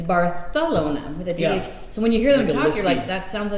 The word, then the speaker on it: Barcelona: than regular spanish and the biggest thing is that they pronounce things with the yeah so give an example though why am i drawing a blank on a word they use th barcelona barcelona so it's not barcelona that's exactly it it's bartholoma so when you hear